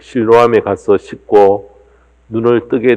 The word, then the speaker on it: 실로암: 불교를 믿으신 분들은 실로암 이렇게 이야기를 하면 무슨 암자를 가리키나 라고 생각하실지 모르지만은 실로암은 암자가 아니고요, 연못의 이름입니다. 예루살렘 성 안에 있는 연못인데 실제 히브리 발음은 실로하 이렇게 이야기를 합니다.